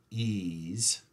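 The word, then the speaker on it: EES: Engineering Equation Solver called ease see hahaha it's pronounced ease and they used to come with a lot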